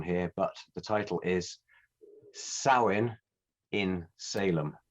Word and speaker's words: Samhain: And I did my research on this, so I'm hoping not to offend anyone here, but the title is Samhain in Salem.